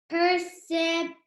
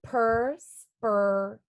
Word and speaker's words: perspiration: Perception. No, not quite. It's per, spur, a, and then T-I-O-N makes shun. So perspiration.